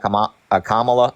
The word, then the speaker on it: Kamala: I think the policies that Kamala, am I saying it right?